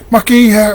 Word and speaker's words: Mākeiii: People go, Mākeiii, how do you say that properly? It's Mākeiii. The MaakeiiKouMei.